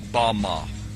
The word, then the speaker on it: bama: which satan fell is strong's hebrew word 1116 pronounced bama bama is most commonly used to refer to a